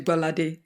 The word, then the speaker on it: Gbolade: So I married a Yoruba man. So even I had to learn the pronunciation, which is Gbolade. Yeah. That is the pronunciation.